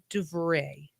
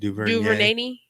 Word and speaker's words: DuVernay: and walk through that Ava dubray or how do you say her name Duvernay that's her Duvernay that's the one that